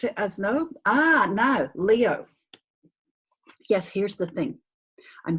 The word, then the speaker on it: Leo: This is the second syllable, O. Leo is a perfectly behaved combination of 2 syllables. The E says its name in the open syllable. The O says its name in the open syllable. Leo. So that's not these 2 letters combined to make one sound. 2 distinct sounds, E, O, like that.